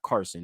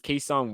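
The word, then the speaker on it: Cason: Carson it's quesan so there's not even an r in there to say Carson yeah that's what I'm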